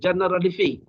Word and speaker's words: Generalife: Bahasa Spain ni dia kena ikut ejaan. So dia orang sebut Generalifi. Tetapi guide tu tanya saya, this is from Arabic word. You know better because you are Muslim. From Jannatul Arifi. Because dia kena pronounce Jannatul Arifi, dia buat Generalifi. So bunyinya bahasa Spain tu Generalifi.